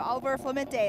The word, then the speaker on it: Oliver Clemente: I mean, it's a fun course, but Oliver Clemente is how you say your name.